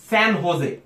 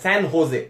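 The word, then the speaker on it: San José: আশির আলম আরেকটি সঠিক উত্তর দিয়েছে, সে বলছে কোস্টারিকার রাজধানী স্যান হোজে। এই যেটা কিন্তু হয়ের মতো উচ্চারণ হয়, স্যান হোজে, যেমন হোজে মরিনো।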